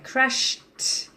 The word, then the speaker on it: crashed: Okay, crashed. You should be able to hear a very sharp t sound when I pronounce that. Crashed. Okay, so it's a t, not a d.